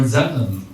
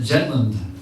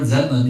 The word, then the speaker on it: Zetland: to one Lord jetan actually Lord zetlin but the benali don't say the Z so probably pronounced it jetland like a jet airplane the balies are not used to saying the z sound the prophet said Lord